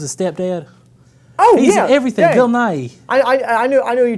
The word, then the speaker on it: Nighy: well Bill Nighy well why are you saying his name like that that's his name good naive Bill Nighy well that's just great honey how do you pronounce Bill Nighy then Bill Nye you've not Bill Nye the Science Guy Bill Nighy the British guy oh we run two